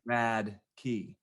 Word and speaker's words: Radtke: walking down the street you see a key and you're like that is a rad key like a hotkey like on a video game like don't don't touch that that's the rad key that'll like get all